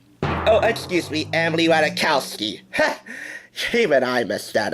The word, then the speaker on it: Ratajkowski: I'll make it easy for you guys but is silent it's Emily wada Tao ski oh excuse me Emily Ratajkowski hey g-man I must add up well thank